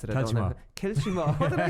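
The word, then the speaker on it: Kiltimagh: I don't really know my Connacht pronunciation, but if a fella from Inchimach can't pronounce it, I don't know. Kilchimach.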